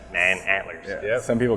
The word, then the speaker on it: Manantler: on a regular basis a lot of people said it was like just mantler like oh okay that's it you know it's man antlers yeah some people call